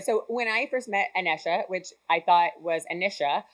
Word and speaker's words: Anesha: It's Anesha. So one night I was in an Uber, probably inebriated, definitely probably drunk, and it's like, you know, it's Anesha, not Anisha.